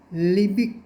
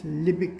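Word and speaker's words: Liebig: what we call a lipid condenser lipid is spelled as lie b-i-g sounds like light bigger lie like right here so it is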